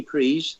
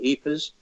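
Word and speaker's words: Ypres: trenches was around the Jeepers area it's pronounced in different ways between the French and the Flemish and the wounds of Belgium that he pries or Ebers was the area that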